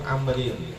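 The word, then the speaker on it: عمرو: Wa fil ghoyati lil hisni, dalam kitab Al-Ghoyah li Syekh Al-Hisni, qala as-sayyidul jalilu Diraru benu Amrin. Kalau ada wawunya bacanya Amr, kalau nggak ada wawunya bacanya Umar.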